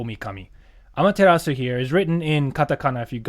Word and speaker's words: Amaterasu: Amaterasu here is written in katakana, if you guys know what katakana is.